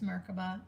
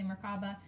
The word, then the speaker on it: Merkabah: Merkava or mark above its Merkabah I just always say it wrong I say markaba so it made me